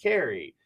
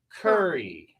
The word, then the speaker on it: Kerry: we actually, she got on like a translation kind of thing, and it is in the United States, Kerry is pronounced Carrie, but in the UK it's pronounced more like curry, right?